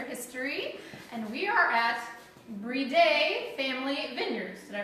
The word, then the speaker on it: Briede: from taste Winchester history and we are at breed a family and vineyards and I pronounced it right yes awesome we're with Loretta